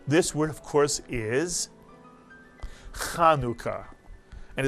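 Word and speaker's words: חנוכה: person doesn't know Hebrew there's no cha sound in Hebrew and this word is not pronounced chanuka but rather kanuka and this word is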